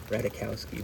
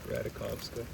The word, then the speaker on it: Radakovska: But, Emily Radakovska, Radikowski, but, apparently it's pronounced Radakovska.